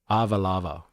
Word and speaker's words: Ava lava: Ava lava is the pronunciation, if that makes sense. Ava lava.